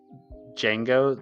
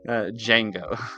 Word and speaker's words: Django: Django. The D is silent. Oh, sorry. Django.